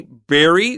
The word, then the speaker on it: bury: bury their flat body do you say bu or Berry I say berry berry I say bur people in the east coast tend to say bur it's I bet it's a regional one eh Pennsylvania yeah okay